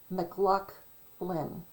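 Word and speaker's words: MacLachlan: So if you see that name, you pronounce it's Scottish. So you say McLaughlin, and L-A-C-H is lake.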